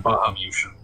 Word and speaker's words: Bahamutian: Bahamutian, is that how that's pronounced? I believe Yes. so. I assume it's like Lilliputian, Bahamutian.